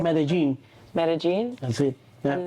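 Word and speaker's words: Medellín: Pronouncing Medellin.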